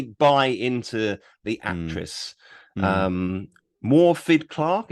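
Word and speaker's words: Morfydd Clark: into the actress um morphed clark is how you say her name yeah i think something like that yeah and um she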